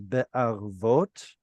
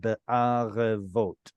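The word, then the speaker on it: בערבת: But so I would probably pronounce this as be'arvot instead of be'arevot. So I would make this silent, but keep the following begad kifat letter with no dagesh.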